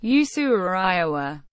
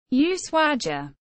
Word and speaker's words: Ushuaia: the eye is erroneous the prosodic accent is on the first a which is why the word is written without an accent mark symbols shield the municipality